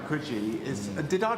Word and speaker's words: Coogee: In Coogee?